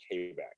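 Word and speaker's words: Quebec: i've been to kbac i was told it's called kabak oh okay so i've been pronouncing it i've been pronouncing it wrong my whole life baby me too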